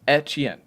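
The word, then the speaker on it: Etienne: It's echen. That's how it is. Not like a It's etchen. The way like Louisiana pronunciation Louisiana pronunciation is like it's an e, not an a if that makes sense.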